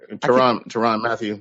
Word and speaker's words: Tyrann Mathieu: Tyrann Mathieu.